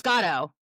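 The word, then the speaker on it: Godot: Godo. I'm just It's a It's It is. It's gotto. That's how they're officially pronouncing it according to the commercial.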